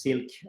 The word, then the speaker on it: silk: some sense um although it's pronounced as silk like the fabric the the idea here